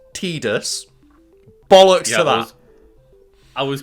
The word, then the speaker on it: Tidus: I I know like the voice actor has said that it's tus like in the script it said it was tus it's stupid no it's not it's Titus I will say Titus um I think there